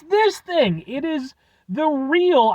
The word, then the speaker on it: Ryl: thing it is the real I'm gonna say that that's how that's pronounced r y l the real Co t